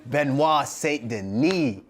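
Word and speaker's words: Benoît Saint-Denis: of you had something to say about us pronouncing this so we hit every name right got him benois St Den like wow hold on he's a he's a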